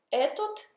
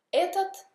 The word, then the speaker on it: это: etot questo tot quello etot et tot però si dice etat etat inel questa ta quella ETA ta neutro eto questo to quello anche qui non si dice eto Ma si dice ETA ETA to Qui c'è la